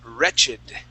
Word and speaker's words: wretched: Okay, now here, this word is wretch. Okay, that's the root word. But when we add an ED ending here, we do say wretched.